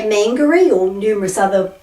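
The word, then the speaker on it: Māngere: Mangere. So people say mangere or numerous other pronunciations.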